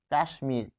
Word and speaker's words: কাশ্মীর: যদি লিখি কাশ্মীর দেখুন কাশ্মীর তাহলে এখানে কি রয়েছে উচ্চারণটা হচ্ছে কাশ্মীর কাশ্মীর ফলে এখানে তালব্যস এর সাথে কি রয়েছে ম রয়েছে ফলে কিছু ক্ষেত্রে ম ফল এর উচ্চারণ থেকে যায় এবং এক্ষেত্রে আমরা দেখতে